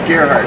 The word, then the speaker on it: Gerhard: Yeah, I get many variations, but it is Gerhard. Rhymes with Amelia Earhart.